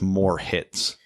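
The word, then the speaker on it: Moritz: than just sighted because his first name literally sounds rhymes with more hits I know and that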